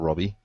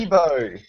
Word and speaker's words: Kibo: Yes, that is not Robbie. It's Yep. Kibo.